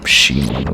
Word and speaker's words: Shimon: Well, in Japanese they are Shimon, which is kind of a pun between it meaning gatekeeper or hellgate or something like that. And you know, the syllable Shimon sounding like Simon.